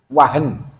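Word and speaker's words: وهن: susah P jama sekalian wau ha Nun Wah Nun bacanya wahen Ya kalau kita nak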